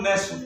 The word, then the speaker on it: NAS: काहे की परीक्षा हो, नाश की परीक्षा। और अपने आप में एक रॉन्ग फीलिंग होती है जब नाश बोलते हैं, तो इसीलिए इसका उच्चारण जो होगा नेस हम लोग बोलेंगे।